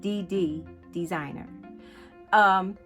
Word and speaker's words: DD's Designer: It's actually pronounced DD Designer.